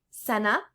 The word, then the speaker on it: cena: E sounds like bed. So like cena, that means dinner.